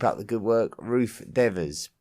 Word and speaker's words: Devers: Keep up the good work, Ruth Devers." Pronounced Devers as opposed to Devers, as most pronounce it.